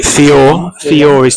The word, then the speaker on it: Fiore: Fiore's told me how to say his name. Fiore. Oh, okay. Fiore. Not no re at the end.